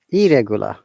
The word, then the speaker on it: irregular: There is no R, no double R, only single R. Irregular, and that is the rule.